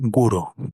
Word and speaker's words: guro: erótica, que eu acho que eu não preciso traduzir, e guro, que é a pronúncia japonesa da palavra gore, que significa violência extrema.